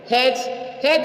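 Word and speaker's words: judge: प्रतिज्ञा please please प्रतिज्ञा डीजी य भी डी साइलेंट है ज जज मीन झाड़ी डीजी ज म झाड़ी लेजर लेजर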